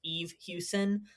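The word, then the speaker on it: Eve Hewson: I think her name is pronounced Eve Houston.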